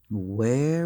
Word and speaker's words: where: Where were you last night? Where were you last night? Cuidado com a pronúncia. A pronúncia aqui, ó, com o H é where e sem o H é were.